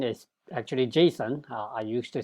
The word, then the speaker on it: JSON: stands for well JavaScript object notation and the pronunciation is actually Jason I used to say that it's JSON but I think that's incorrect according to the inventor is caught Jason and and what it is is it's an